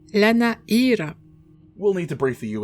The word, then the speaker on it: Lana'yra: proposing a trip to lanny annie it is properly pronounced la na era we'll need to briefly